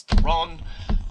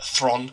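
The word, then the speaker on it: Charlize Theron: and I love uh Charlie's Thron uh Thrawn, sorry, that's how you actually pronounce her name apparently.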